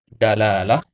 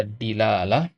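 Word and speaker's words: دلالة: Jadi dia bisa dibaca dalalah, bisa dibaca dilalah, bisa dibaca dulalah. Nah, yang pertama ini yang paling masyhur. Ini yang fusha ya.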